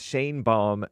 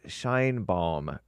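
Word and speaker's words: Sheinbaum: and speaking of that I heard that it's Shane bomb not shine bomb that Mexican Jewish female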